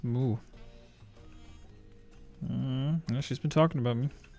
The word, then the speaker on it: Smu: It's the Shmoo. It's pronounced Smoo.